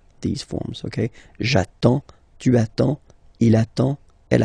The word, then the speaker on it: attends: So the first form will be j'attends, j'attends. Okay, you get D and S, well, basically you don't pronounce them, okay, and then you get only the sound attends, nasal here, en, j'attends, okay.